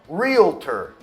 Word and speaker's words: realtor: A palavra verdadeira, pronunciada corretamente, é realtor. Mas olha esse som no meio, realtor. Muita gente coloca um som de i ali no meio.